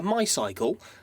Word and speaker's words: MYCLE: It's out of I think you call it a MYCLE, but it's spelt M-Y-C-L-E, so I'm going to go with MYCLE because I think it's funnier.